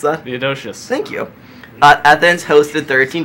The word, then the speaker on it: Theodosius: How do you pronounce that? Theodosius.